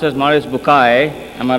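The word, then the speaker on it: Maurice Bucaille: and a scholar of quran dr maurice bukhail pronounced as maurice bukai am i right doctor doesn't matter okay he's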